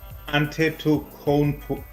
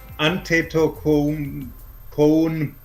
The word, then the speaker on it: Antetokounmpo: Yes, we have Giannis Antetokounmpo. No, I butchered that, sorry. Giannis Antetokounmpo.